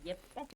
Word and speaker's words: Jeppe: And Jeppe or Jeppa or Jep Jeppe Back to the Danish pronunciation.